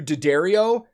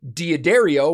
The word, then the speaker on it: D'Addario: is one of those interesting companies similar to daddario where nobody in the music industry really has